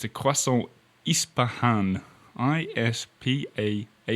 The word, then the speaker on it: Ispahan: got it spelt here, it's a croissant Ispahan, I-S-P-A-H-A-N.